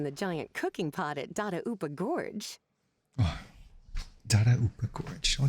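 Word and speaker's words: Dadaupa Gorge: Surely not in the giant cooking pot at Dada Upa Gorge. Oh, Dada Upa Gorge. Oh, that's how it's pronounced.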